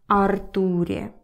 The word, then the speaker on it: Артур: Об Артуре. Артуре. By the way, in English, this name is Arthur. So you stress the first letter, Arthur. In Russian, it's Артур.